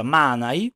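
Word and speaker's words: Manaj: nel finale su Manai perché abbiamo capito che si pronuncia Manai A me sembra strano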